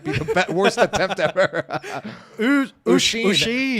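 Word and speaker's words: Oisín: Olsen? Okambi? It's not Olsen, it's an I. Oisin.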